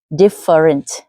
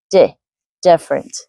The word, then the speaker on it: different: So for example when you say the word different you tend to say different for example but you have to put the stress on the first syllable of the word which is d different.